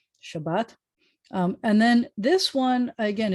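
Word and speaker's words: שבת: you should know shabbat accents on the second syllable shabbat shabbat and then this one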